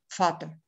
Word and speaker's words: Vater: Y en cambio, la V simple alemana, la B corta alemana, es la que se pronuncia con un sonido de F, Vater, Fada, que quiere decir padre en alemán, aunque se escriba Vater.